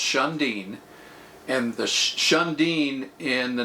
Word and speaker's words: Shun'Diin: So the name SHUN'DIIN Tours, it's pronounced SHUN'DIIN, And the SHUN'DIIN in the Navajo culture means radiant sun rays, right?